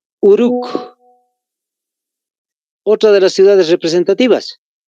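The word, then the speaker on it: Uruk: otra de las ciudades uruc tal como se escucha con k de kilo al final uruc otra de las ciudades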